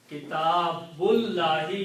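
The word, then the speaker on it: كِتَابُ اللَّهِ: So it becomes Kitabullahi. Okay, so the correct translation, a book of Allah, is Kitabullahi. You do not pronounce this alif in between.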